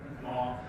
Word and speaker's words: Mi'kmaq: been written by a Mi'kmaq, if I'm saying that right. It looks like Micmac, but it's pronounced Mi'kmaq. like Mackinac Island.